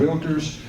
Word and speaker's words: Realtor: the Texas Association of Realtors and the National Association of Realtors. And by the way, realtor is a 2-syllable word. The one so most often mispronounced is realtor. That is incorrect.